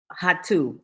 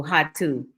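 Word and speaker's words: Rato: I'm close to is hatu r a t o here Portugal don't pronounce the r is pronounced sort of like a h so hot to it's a 10-minute walk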